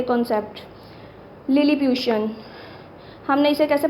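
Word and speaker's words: Lilliputian: यानी इसकी प्रोनाउंसिएशन पहले तो आपने क्लियर करनी है, इसकी प्रोनाउंसिएशन क्या है? लिलीप्यूशन।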